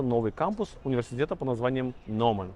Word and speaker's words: Gnomon: Она пишется как Gnomon, но произносится как Gnomon.